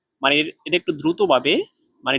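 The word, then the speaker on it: 马: তাহলে এটা উচ্চারণ হবে মা, মা, মা।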